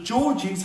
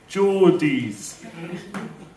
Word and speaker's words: Geordies: She texted me saying, stay safe, because the Georgies haven't seen a talking frog before. I text back saying, I will be fine, and I think it's pronounced Geordies.